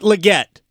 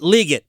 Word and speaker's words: Legette: that's very good thank you uh it is pronounced Xavier leate not Legette or not Legette it's legate according to Xavier